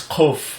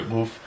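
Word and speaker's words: ק: Boof is a guttural G sound. Some people pronounce it as kof, which is like a guttural K sound, which is also basically correct. It's just kind of more or less a version of the letter goof. But some people also pronounce it goof like a regular G sound. But goof is really correctly a gulping G sound.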